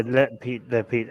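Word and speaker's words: לפיד: Yair Lapid. Is that right, Armin? Did I get it right? Yeah, Lapid.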